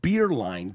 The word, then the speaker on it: Beerline: Pronounced Beerline, just as he did.